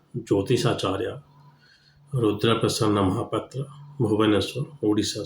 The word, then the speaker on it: महापात्र: में जा रहा है महापात्र, उसको बोलते हैं महापात्रा। महापात्रा नहीं होता है, उसका जो जेन्युइन प्रोनाउंसिएशन है वो है महापात्र। आ नहीं आ है, वैसे